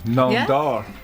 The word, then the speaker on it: Namdar: asked me to ask you guys how to pronounce his surname, Namdar, because it's apparently Persian. Yeah. Namdar.